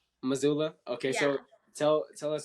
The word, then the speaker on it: Missoula: So, how you say it? You say it Missoula. Missoula?